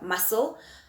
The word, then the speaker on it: muscle: for example i've got muscle i've got fascinate and conscious okay so the c is silent there previous one the hour